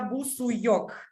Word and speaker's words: Busuioc: I traveled all over the world, and in every country they found a new pronunciation. That's why normally it's Busuyok.